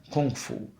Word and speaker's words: Gong Fu: to translate the word Gong Fu, because Cha means tea, and Gong Fu can also be pronounced as Kung Fu.